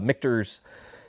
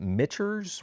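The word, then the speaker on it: Michter's: so this is uh mikter's if you ever see this and you're like is it mitcher's what is it mikters um took me like six months figured out how to pronounce the distillery so this is their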